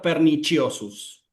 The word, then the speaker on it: perniciosus: En la pronunciación clásica suena como una K y en la pronunciación eclesiástica pernichosus. ¿Me explico?